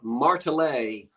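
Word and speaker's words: Martelé: Now, a couple of people told me I was pronouncing it wrong. So I asked the man who wrote the book on Consolidated Phoenix, and he calls it Martelet.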